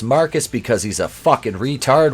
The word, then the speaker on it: Marquise: At Wayne, we see behind the desk none other than the new CEO of Wayne Enterprises, Marquise, pronounced Marcus because he's a fucking